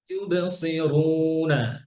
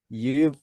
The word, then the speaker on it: يبصرون: এরপরে ইবে, অনেকে ইবর বলেন, কি বলেন ইবর না, ইবে, ইবেরাহিমু, إبراهيم إبراهيم ইউবসিরুনা, يبصرون সি সৌন্ড করে সি, يبصرون ইউবসিরুনা, يبصرون মাশাআল্লাহ, বারাকাল্লাহ।